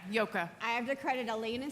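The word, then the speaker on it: Joke: okay you did yeah it's spelled j o k which was a difficult name to immigrate to the United States with but uh it's a very Dutch name yeah yoka I have to credit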